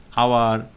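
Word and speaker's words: hour: আর স্বতঃসিদ্ধ যে নিয়মটি আমি বা তুমি দেখে দেখে অভ্যস্ত হয়েছি সেটা দিয়েই না হয় মনে রাখো যে এইচের উচ্চারণটা যখন সাইলেন্ট থাকে, আওয়ার, এরপরে অনেস্ট, রাইট?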